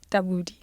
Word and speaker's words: Tabudi: How do you pronounce your surname? Tabudi. Yes. Please, can you say it for me? Tabudi.